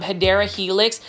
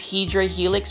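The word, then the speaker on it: Hedera helix: new to the channel I mispronounce um hadera Helix as hedra Helix because I um was actually thinking that I was saying it correctly the first time but then I had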